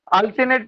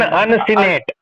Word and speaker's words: uncinate: उसको अनसिनेट process बोलते हैं। हाँ, शायद यही है। क्या बेटा? अल्सिनेट प्रोसेस, अल्सिनेट, तो अल्सिनेट प्रोसेस, हाँ अल्सिनेट प्रोसेस, अन हाँ वही अन Uncinate. अन अन अनसिनेट, अनसिनेट है अमित।